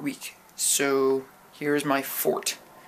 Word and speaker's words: Ffort: So, here is my fort. It's spelled like that because the second F is silent.